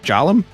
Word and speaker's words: Golem: Also started pronouncing Golem with a soft G because people didn't like how you normally pronounce it. Golem. A soft G. Golem. How do you pronounce a different G? Golem. Jolum. Gallum. Soft G equals J.